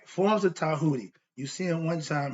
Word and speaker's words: Djehuti: So understand that Djehuti is spelled D, which is silent, not the Django, not D Djehuti.